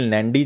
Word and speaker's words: Nandi: तो नाम बहुत इंपॉर्टेंट हो गया, निखिल नंदी जी या निखिल नैंडी जी, तो किसी भी तरह से आप प्रोनाउंस कर सकते हो इसको, जिस तरह से भी आपको याद रखता है।